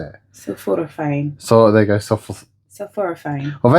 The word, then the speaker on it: sulforaphane: Sulforaphane.